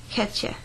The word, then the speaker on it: Catja: Rafi, my name is Catja. In Danish it's pronounced Catja. And I think it's pretty much the same in English, except that it has much more English sound to it.